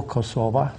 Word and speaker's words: Kosova: of community of Serbia Kosovo kosova to take both pronunciations and Albania so we